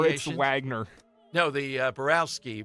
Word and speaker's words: Moritz Wagner: The W is pronounced more like a V.